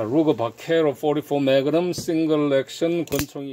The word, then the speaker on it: Vaquero: 오늘은 루거 바케로, 그러니까 여기 이제 바케로가 스펠링이 V로 시작하거든요. 이게 V로 시작하는데 이걸 갖다가 스페인어에서는 B로 읽는다 그러더라고요. V로 되어 있는데 죄송합니다. 예, 이거 V로 시작되거든요. 이걸 갖다가 V로 시작하는데 그냥 B로 된다 그러더라고요.